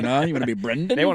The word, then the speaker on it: Brendan: No, I've heard of Brendan's like den.